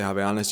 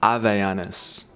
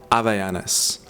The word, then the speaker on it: Havaianas: In the West and in English, obviously the H isn't silent when you say something like Havaianas, but in Portuguese, if you were to pronounce Havaianas, you don't say Havaianas, you say Havaianas. Havaianas.